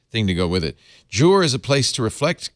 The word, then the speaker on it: Jour: This is called jour, the first syllable of journal, or maybe you pronounce it Journal. jur, but of course it's the French word for day, and it is a journal for your day.